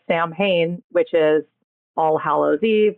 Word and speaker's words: Samhain: This Sam for Samhain, which looks like Sam Hain, which is All Hallows Eve, which is Halloween.